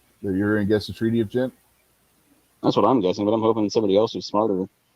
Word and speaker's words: Ghent: Did you say it was Ghent, Gary? Yes, Ghent. Like I said, I always forget how to pronounce that word for some reason. GH know is what it is. pronounced as a hard G generally.